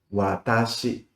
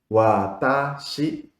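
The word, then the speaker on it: 私: Por ejemplo, en japonés, yo es watashi. Watashi significa yo. Son tres sílabas. Wa ta shi.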